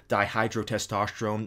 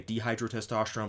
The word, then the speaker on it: dihydrotestosterone: reason i stumbled when saying uh dihydrotestosterone is because you know i used to say dehydrotestosterone but then somebody pointed out to me it's actually not pronounced that way so i'm still getting